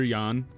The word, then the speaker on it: Jan: Other other Yan. I don't know why I said Jan.